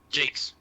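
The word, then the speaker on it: Jacques: a piece of Brian Jakes and I took a piece of Associated Press and are you think brand jocks Jakes is it pronounced Jake's GA burnouts Jake's okay yeah I've never build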